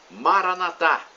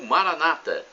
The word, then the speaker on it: Maranatá: E agora eu clamo do aramaico, dialeto de Jesus, Maranatá, conforme dizemos nós católicos, ou Maranata, como dizem nossos irmãos protestantes. Não importa a pronúncia, o significado é o mesmo.